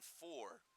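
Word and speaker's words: Foor: It'll be a goal kick opportunity for Carson Four, who wears number 4 appropriately. Last name spelled F-O-O-R, but pronounced like the number that he wears on the back of his shirt.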